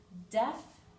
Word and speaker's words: deaf: apply to every word any time we have this EA combination most of the time the a will be silent um and let's take